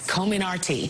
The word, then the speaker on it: Comirnaty: The vaccine has been known as the Pfizer vaccine and will now be marketed as Comirnaty.